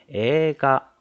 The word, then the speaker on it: 映画: 映画 분명히 에이가라고 적혀 있는데 실제 발음은 에가 에를 두 박자로 발음해 줬죠.